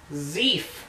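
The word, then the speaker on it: Zief: And then the other guy introduced himself as Zeef. Yep, that's spelled Z-I-E-F.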